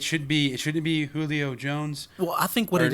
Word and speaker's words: Julio Jones: be it shouldn't be Julio Jones well I think what it is we're pronouncing Julio with the Spanish kind of accent because it's a Spanish name and Jones is an